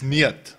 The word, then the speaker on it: Niet: He calls Niet Newt. It's not Newt, it's Niet.